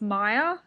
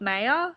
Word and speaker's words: Maya: talked about how apparently the main character's name is actually pronounced Maya, not Maya. It's M-A-Y-A, so Daniel informs me that it's actually Maya, but in the build